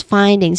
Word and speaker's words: findings: We stress on the first syllable here. So find is the first syllable which has a clear i tip thong sound and a clear d at the end.